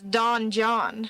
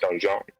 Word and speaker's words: donjon: It would just be easier to pronounce it dungeon because it's Don John. Donjon. Basically.